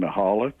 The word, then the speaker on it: Michalak: Now, is it Stefan Michalik? Is that how you pronounce his name, or Michalak? Well, I've heard so many pronunciations. most people seem to think now that it's Stefan Mihalik. Mihalik, okay. But I've heard so many variants, you know.